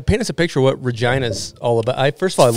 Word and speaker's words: Regina: time uh regina saskatchewan it's regina regina regina city they're right with fun i've checked into many flights and um i've had them tell me that i'm saying it wrong i was like no